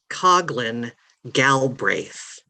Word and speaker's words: Coughlin Galbraith: inform the town that my last name is pronounced coughlin galbraith and i know it's not obvious thank you the moderator